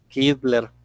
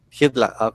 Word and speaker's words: Hitler: la pronunciación si quiere cómo se pronuncia hitler hitler porque la ema se pronuncia no es como la doble y el hit la que hitler entonces en lugar de hit la fue hitler se confundían alois primero